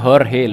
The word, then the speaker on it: Jorge: Tulisannya Jorge tapi bacanya Jorge lur, oke?